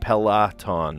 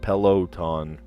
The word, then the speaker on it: Peloton: It showed up as tanned because I said pelaton, not peloton. Peloton.